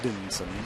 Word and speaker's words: Edinson: Mostly just to befuddle broadcasters, because it's a whole lot easier to say Edison than Edinson.